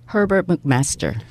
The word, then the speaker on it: Herbert McMaster: 미국 정가에 예를 들면 지금 허버트 맥메스터 이 발음 좀 해주세요. Herbert McMaster.